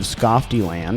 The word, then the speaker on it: Skofteland: Mike Frank and Skofteland.